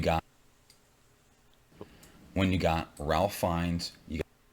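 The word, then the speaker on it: Fiennes: Rafe fines. Rafe fines. Rafe fines. Fines is correct. It's not pronounced Ralph.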